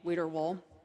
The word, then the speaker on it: Wiederwohl: I love my family name, Wiederwohl, but it does indeed rhyme with a Thanksgiving turkey brand.